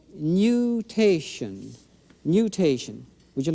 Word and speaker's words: nutation: That motion is called nutation.